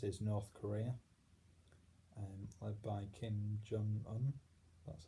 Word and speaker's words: Kim Jong-un: Another country which has been making news the past few years is North Korea, led by Kim Jong-un.